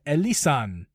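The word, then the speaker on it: Elysian: The Elisan, that's how you say it, Space Dust IPA.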